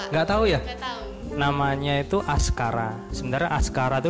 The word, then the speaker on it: Askara: tahu ya namanya itu askara sebenarnya Aska Ratu diambil dari bahasa Sansekerta kalau membacanya sih askoro hell pas coro artinya